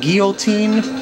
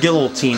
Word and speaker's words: Guillotine: Some people call it Guillotine, but I think it's pronounced Guillotine. I mean, it's spelled G-U-I, and that spells gear to me.